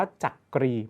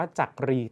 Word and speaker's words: จักรี: นะ ออก เสียง ว่า จักรี ไม่ ได้ ออก เสียง ว่า จักรี ตาม ที่ เขียน เอา ไว้ นะ ครับ และ ข้อ